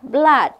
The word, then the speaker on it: blood: Kemudian apalagi mood ya, itu double O itu dibaca U, tapi seperti banjir tidak dibaca U, tapi dibacanya A, flood, darah, blood.